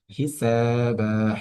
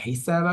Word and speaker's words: حسابا: হিসাবা, হিসাবা শব্দটির মধ্যে সিনে আমরা এক আলিফ পরিমাণ টান দিচ্ছি, এর কারণ জবরের পাশে খালি আলিফ মাদের হরফ এবং বায়ের মতো সেম নিয়মটা রিপিট হবে।